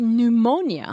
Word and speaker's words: pneumonia: pneumoni Pony yeah and in English we you say say pneumonia yeah we we take away the P yeah yeah we take